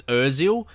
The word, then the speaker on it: Özil: it's so close it's so close to the pronunciation I know it's Özil but sometimes out of what cuz I'm playing